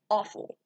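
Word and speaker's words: offal: letters spelling the word awful it's spelled o-f-f-a-l not like you're eating something that tastes awful but the spelling of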